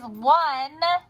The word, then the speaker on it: one: Now it sounds like it starts with a wah, but I think we all know it doesn't.